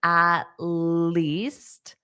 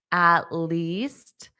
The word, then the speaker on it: at least: Now, notice the pronunciation of at least, at least. So I'm not going to pronounce that T there.